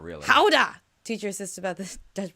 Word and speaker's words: Gouda: Howda! Teacher assists about the Dutch pronunciation of Gouda cheese.